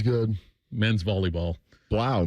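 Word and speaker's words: Blough: Blau maybe, right? Blow like the Purdue quarterback.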